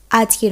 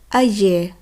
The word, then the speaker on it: âgé: আজে অর্থাৎ বৃদ্ধ, আজে অর্থাৎ বৃদ্ধা। এখানে উচ্চারণের পার্থক্য কিছু নেই, এখানে শুধুমাত্র বানানের পার্থক্য আছে।